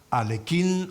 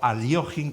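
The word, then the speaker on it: Alekhine: no se me ocurre alquin o Alin como en realidad deberíamos pronunciarlo transliterar lo del ruson es y lo que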